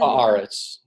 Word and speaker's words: Haaretz: that I got off of, how do you pronounce that? You said Haaretz.